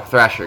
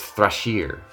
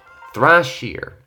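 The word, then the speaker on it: Thrasir: get me oh well Thrasher got me oh and I said it wrong actually know how to pronounce it this time it's thrush here thrush here so okay I'll try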